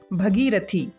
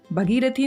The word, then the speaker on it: भागीरथी: भगीरथी, भगीरथी नहीं होता, भागीरथी होता है।